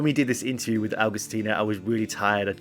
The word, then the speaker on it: Agustina: Is that how we say it properly? Augustino or Augustina? Yeah, Agustina. But Augustina.